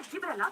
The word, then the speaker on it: Gibberella: Fungus का नाम है जिब्रेला क्यूजीकुरम। जिब्रेला जैसे सिंड्रेला होता है, क्यूजी क्यूजू नहीं क्यूजी, will shift to Giberellin.